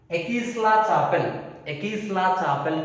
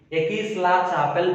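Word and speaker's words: Aix-la-Chapelle: Ekisla-Chapel Treaty. Ekisla-Chapel. See, just listen clearly how I am pronouncing. Ekisla-Chapel Treaty. Ekisla-Chapel Treaty.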